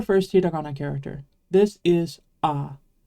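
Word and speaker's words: あ: heag character this is ah it's pronounced like the a in father it's never pronounced a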